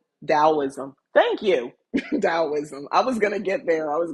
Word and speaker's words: Taoism: you've just been indoctrinated the T in the tid pronounces d so dialism taoism thank you taoism I